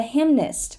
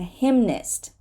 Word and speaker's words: hymnist: Hymn, but a hymnist, right? A hymnist.